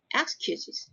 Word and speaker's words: excuses: Your brilliant excuses, because the Excuses. stress is on the second syllable, right?